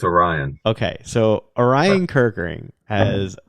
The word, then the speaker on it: Orion: do you say his first name I it's Orion okay so Orion kirkering has a 1.63 era